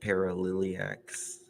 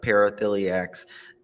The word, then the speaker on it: paraphiliacs: being rather benign nuisance uh how do you pronounce it paralyx yeah paraphiliacs the the uh these results however suggest that